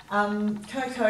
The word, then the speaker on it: cocoa: Cocoa, you've got a long O sound with the O and with the OA on the end.